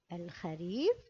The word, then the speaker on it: الخريف: هنا كلمة الخريف جاءت أيضا معرفة بالألف واللام، لكن هذه المرة نطقنا باللام بالسكون، إذن قلنا جاء فصل الخريف.